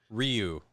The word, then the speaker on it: Ryu: Ryu. Kind of mashed into a single syllable. So you do more of the ooh, not the ry. You do more the re.